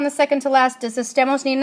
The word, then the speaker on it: estemos: So estemos, where do you hear the stress? It's on the second to last. So if the stress is on the second to last, does estemos need an accent?